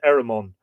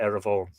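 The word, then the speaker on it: Éremón: With Ever and Eramon, there's an argument to be made that Eramon should be Eravon, because, again, the M lenited in Middle Irish sounded like a V, in Modern Irish sounds like a W, Eravon.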